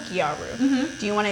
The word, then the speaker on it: gyaru: I don't want to say it Gyaru? Gyaru.